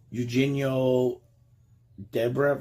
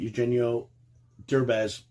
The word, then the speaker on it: Eugenio Derbez: a comedy from 2018 starring Anna Faris and Eugenio Debrev. I can't even pronounce his name properly. Eugenio Derbez.